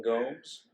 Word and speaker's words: Gomes: Wasn't rhymes with Combs, Wayne Gomes? Wayne Gomes had old Dominion.